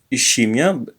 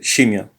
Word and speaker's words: scimmia: It's not scimmia, but scimmia.